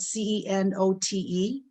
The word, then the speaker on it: cenote: this is called the cenote it's uh spelled c-e-n-o-t-e but it's pronounced cenote and uh they're underground water areas